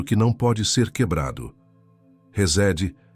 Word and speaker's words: Hesed: A palavra é Resed. Pronuncia-se Resed.